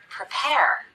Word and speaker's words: prepare: look at some examples the first syllable of the word prepare is the unstressed syllable we cut the vowel we rush through it as quickly as we can even though the letter